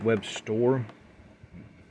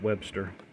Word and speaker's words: Webstor: store i always said i know his name is webb store i always pronounce it webster child of the 80s